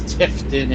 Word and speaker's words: Tifton: tip titan or i don't know how to pronounce it though it historic tifton it's tifton and waycross and there's a uh little mini